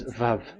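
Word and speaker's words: וו: So the word, the shape Vav is really pronounced V, like Vogue.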